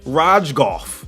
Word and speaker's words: Rogoff: so we've created just kirk rogoff yes you got to pronounce both g's okay this ain't lasagna the g is not silent and then finally the